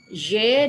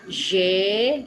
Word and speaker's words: j'ai: Nah, alors, j'ai nih apa ai ini? Avoir ya untuk ze. Konjugasi avoir untuk subjek je adalah j'ai ya, dibacanya j'ai. J ya, bukan jai, bukan jai, no, c'est J, J ya, J de cousins